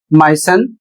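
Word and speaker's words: moisten: एम ओ आई एस टी ई एन और इसे पढ़ा जाता है माय सन और इसका अर्थ होता है नम करना।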